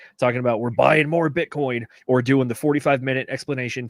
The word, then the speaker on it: Bitcoin: Michael, I love the way he says Bitcoin without pronouncing the T. Bitcoin or I can't I can't do it. Bitcoin. Bitcoin. It's like the the guttural stop on it instead of the letter.